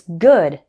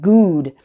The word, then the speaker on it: good: We also have words like good. It's good, not good. It's a slightly different sound between food and good.